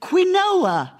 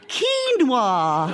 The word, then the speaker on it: quinoa: It was only years later we realised the correct pronunciation for this is quinoa, Nicholas. Yes, it does begin with a Q and a U, like corn and quiche and other healthy foodstuffs like